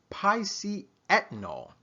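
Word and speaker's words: piceatannol: It's very new, a little difficult to pronounce, but I believe we can handle it. It's entitled, or it's called pisceethanol.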